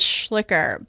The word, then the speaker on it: Schlicher: That is actually it's it's often pronounced as Schlicker, but it's a it's a funny thing because it's actually misspelled.